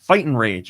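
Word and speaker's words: Fight'N Rage: I guess I'm supposed to say it like that. Fight and Rage. It's Fight apostrophe N space Rage, which is a 2D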